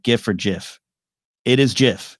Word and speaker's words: GIF: or jif it is jif even the creator says jif doesn't matter we have